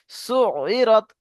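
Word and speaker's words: سُعِّرَتْ: সুই হবে না, সু হবে। সু ইরত। সু ইরত। আইন আছে না এখানে, ইয়া নেই। সুই মানে ইয়া থাকলে সুই হতো, এখানে আইন আছে। সু ইরত পড়েন।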